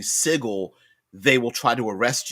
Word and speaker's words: Sigil: that says that if you mispronounce the name of sigil and mispronounce it because it's actually sigle they will try to